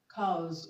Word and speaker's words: cows: Okay, the S in wise is pronounced Z. Z. So the word is not wise, it's wise. Okay. Option B, we have cows. Cows.